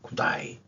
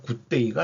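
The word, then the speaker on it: G'day: 요거 딱 보면 자기네들 홍보해 주는 거로 알고 있 구다이.에 호주는 A 발음을 다 아로 발음하죠. 그래서 굿데이가 아니고 다이 이렇게 발음을 하더라고요.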